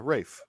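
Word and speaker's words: Ralph: Rafe Fiennes. Yeah, Rafe. Yeah. It's Rafe Fiennes. Fine. Rafe Fiennes. Rafe. Good grief.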